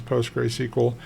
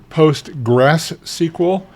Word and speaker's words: PostgreSQL: you can easily recognize post gray SQL and it's pronounced gray gr like g r a y or GR ey you'll hear it pronounced postgress SQL like there's a second s in there I like language so